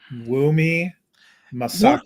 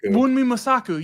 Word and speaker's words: Wunmi Mosaku: And then the one I just looked it up because I didn't want to mispronounce it. Wunmi Mosaku. Wunmi Mosaku.